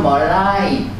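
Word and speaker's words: malign: 발음은 멀라이.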